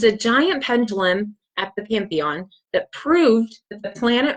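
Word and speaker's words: Panthéon: And I believe that they pronounce this slightly different, Pantheon. So it's a little bit different in French.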